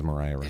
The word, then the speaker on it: Maria: she comes back as Mariah it's spelled Maria and in the musical was pronounced Mariah and so I've heard